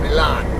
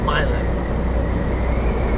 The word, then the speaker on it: Milan: Yes, I'm going to call it Milan, not Milan.